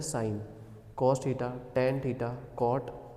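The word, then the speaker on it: sin: दिख तो रहा है ये सिन, पर इसको प्रोनाउंस किया जाता है साइन।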